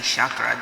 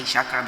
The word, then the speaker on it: chakra: and the person who started saying chakra didn't say shakkar because it's hard to say chakras because they were trying to sound smart they wanted to sound french the idiots it's a sanskrit word say it correctly aid of fire yes